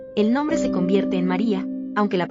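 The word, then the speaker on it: Mária: En húngaro, el nombre adopta la forma María, con acento en la primera sílaba.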